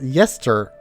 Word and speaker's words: Gesture: Gesture is pronounced yester on account of the JG consonant cluster.